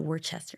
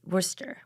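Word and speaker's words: Worcester: say it right because you don't pronounce the r it's not Worchester it's wor Worster Worster and um and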